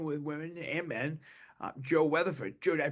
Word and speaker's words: Weatherford: Joe Weatherford. Joe, did I pronounce the last name right? Yep, Weatherford.